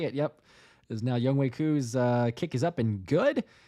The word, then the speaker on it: Koo: Koo. Weedosaurus was saying as a Korean, I'm gonna need you to pronounce his name right.